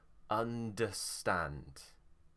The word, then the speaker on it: understand: it's an er and remember er isn't er it's uh so understand under stand understand okay